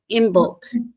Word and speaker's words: Imbolc: Is it Embolic? Is that how you say it? Embolic? Imbolc. Embolic? I think you can say it either way, though.